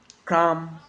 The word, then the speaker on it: come: It's always silent when it follows the letter M. Climb, come, lamb, thumb, dumb, and plama.